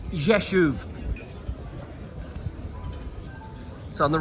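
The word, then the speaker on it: Rzeszów: thing here really is how do you say jeshev and it's pronounced yeshuv so on the right side we can see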